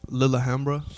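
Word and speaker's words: Lillehammer: little bit of Lilyhammer it's actually a little Hambra is how you say it's Norwegian either one of those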